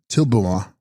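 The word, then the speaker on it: Dril-bu-ma: Text Drilbuma, pronounced Tilbuma, Sanskrit Kinkini Dari, she holding the bell, the Shakti of Amrita Dara.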